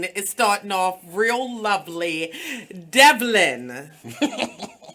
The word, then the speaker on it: Devlon: a compliment so tell the people your name Devlin is that how you say it yes water